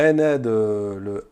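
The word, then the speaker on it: أنا: Donc le ana le A long de ana ne se lit pas ana. Il ne se lit pas long. Il se lit court.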